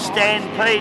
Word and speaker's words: Stampede: I should tell you the story behind Stampede. It's spelt Stan, S-T-A-N, Pede. And that's pays homage to Stan Jones.